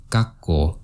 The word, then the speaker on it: 学校: If you notice the correct pronunciation when I say it is 学校, there's a little stop after ga and ko.